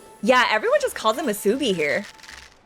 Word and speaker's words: musubi: Kind of pees me when people incorrectly stress the second syllable of musubi.